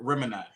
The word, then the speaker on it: Remini: Yes, Gemini. I thought it was Remini. I hope I said it right. Remini. So he replaced the G with an R. Remini.